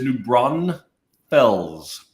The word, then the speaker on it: New Braunfels: it's uh kind of New Braunfels New Braunfels is uh is where Cobalt is in Comal County and it is New Braun Fells there's no s in the middle I'm about to Texas